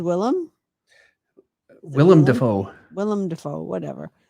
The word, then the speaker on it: Willem: you ever consider drawing william dafoe's green goblin or william day fo huh he says willem willem dafoe willem dafoe